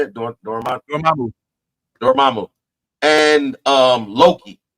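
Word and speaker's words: Dormammu: Dormamu and um Loki.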